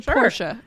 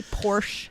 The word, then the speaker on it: Porsche: to say this right i'll say it the german way okay you know what you want me to say germany it's a persia okay that's how you say it everybody you don't say porsche that's incorrect so if we're going